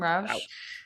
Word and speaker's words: Rous: How do you say his last name? Rous. Rous.